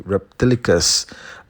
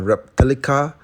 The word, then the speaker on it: Reptilica: the ship as the reptilicus uh what was I doing okay it's in fact called the reptilica which rhymes with Metallica all right reptilicus kind